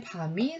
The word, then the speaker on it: 밤: 자, 밤송이의 밤은 여러 개 들어있으니까 밤송이의 밤이 송송 들어있다. 이렇게 외우시면 됩니다. 그래서 밤이 길다. 긴 발음은 점 2개를 이렇게 찍어서 긴 발음 표시를 하거든요.